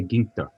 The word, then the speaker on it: Ginter: first try correctly i was trying to say gingka is that the proper pronunciation that's exactly right so guinta let me tell our listeners more about